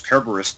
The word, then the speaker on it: Kerberos: And yeah, I mean with the it's Kerberos though, if you're pronouncing the hard C, like Julius Caesar Cicero, whatever.